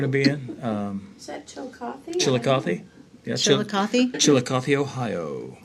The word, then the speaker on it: Chillicothe: Chillicothe. Oh, I was wondering how you pronounce that.